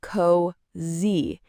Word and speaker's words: cozy: It's not cozy, it's cozy. Hear that Z sound? Yeah. It's like a soft Z.